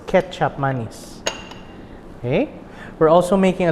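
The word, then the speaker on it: kecap manis: thick, sweet soy sauce called KECAP Mise. Okay, or pronounced Ketchup Mise.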